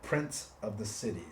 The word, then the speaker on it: Prints of the City: a screen printing business it's called Prince of the City that's spelled p-r-i-n-t-s prints of the city so we do a